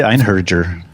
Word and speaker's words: Einherjer: Einherjer. Einherjer. All right. I say Einherjer.